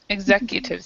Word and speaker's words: executive: and this this is um uh e executive Executives here um execute is a verb and it's